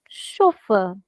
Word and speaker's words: chauffeur: pronounce it as chauffeur now observe in English if it was an English word but it is not it's actually a French word that's why we are saying sure now the rule is whenever you see CH in in French words it sounds like stir it's no more true it's true so another thing that we are learning now is if there is ch it sounds like sure so another rule that